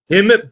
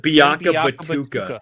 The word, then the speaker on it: Tim Biakabatuka: Tim Biakabatuka. Biakabatuka.